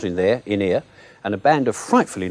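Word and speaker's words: Ynyr: So, with the aid of Freddie Jones, as a wise man named In-Ear, pronounced as in, not in there, In-Ear, and a band of frightfully nice escaped criminals,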